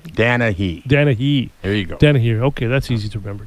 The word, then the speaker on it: Danehy: In studio today, I have Tom Danehy.